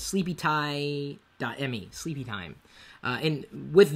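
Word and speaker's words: sleepyti.me: you should sleep is sleepy time it's spelled sleepy time only it's a me at the end it's not a do com it's sleepy Tai me sleepy time uh and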